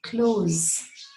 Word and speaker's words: clothes: I've heard different ways of this word being pronounced and all incorrect. What you have to say is close with a Z sound.